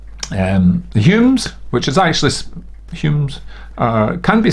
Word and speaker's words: Home: The Humes, which is actually Humes, can be spelled Hume, but can also be spelled Home, but they're all pronounced Hume.